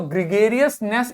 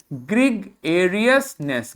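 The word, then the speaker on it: gregariousness: तो ग्रिगेरियसनेस इसका नाउन बन जाएगा। प्रोनाउंसिएशन देखिए, ग्रिगेरियसनेस, ग्रेगेरियसनेस, ग्रिगेरियसनेस, ग्रिगेरियसनेस, ग्रिगेरियसनेस।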